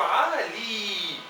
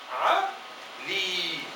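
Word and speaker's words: علي: En el Líbano lo llaman Ali, pero la palabra original es Ali y tiene un alargamiento aquí al nivel de la segunda sílaba con la Lam como consonante, con una vocal I, y la Y es una I adicional y se lee con alargamiento Ali.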